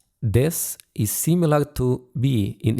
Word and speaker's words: です: That's noun or adjective plus this. It's written as des, but it's usually pronounced as this. The ooh sound is brief and quiet.